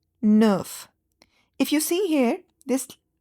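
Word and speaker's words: dix: Uh you don't pronounce the X and you just just say it as this.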